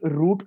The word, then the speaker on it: route: would be on which route do we want to hear it on so it can be root or route based on your pronunciation